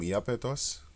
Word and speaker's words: Iapetos: Yeah, if you listen to the name Iapetos, it sounds like Japhetos, because this is the